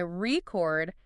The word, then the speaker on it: record: But if you say record, stress on the second, that's the verb to record something. Yep. Same letters, totally different thing based on where you put the stress.